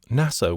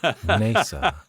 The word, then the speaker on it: NASA: NASA. That's an interesting point, isn't it? NASA. Yes. Sounds like it's spelled Nasser. Yes. As in the Egyptian leader.